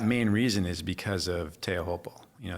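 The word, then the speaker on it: Teahupoo: reason is because of teahopal you know some people refer to it as tropu or you know the I think the proper pronunciation pronunciation is teahopo and it's because it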